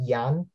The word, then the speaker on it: Jan: you my friend um well yan right i pronounced that right yon it's funny people in the people in europe calls me young people in the us calls me jan and people in the philippines call me a